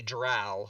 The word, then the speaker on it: drow: So it's kobold, and it's definitely drow, like cow.